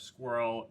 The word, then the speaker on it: SQRL: fast food um again sqrl is pronounced squirrel but it stands for stewardship